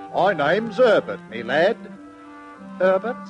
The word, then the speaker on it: Herbert: and after wheezing twice he said my name's berbert me lad berbert said Conrad the duxon berbert how do you spell that and berbert wheezed and said why berbert h e r b e r te berbert but Dutch tells Herbert said little Conrad